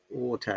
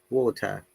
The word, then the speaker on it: water: And an American will say like, may I have a bottle of water, please? The T sounds like D.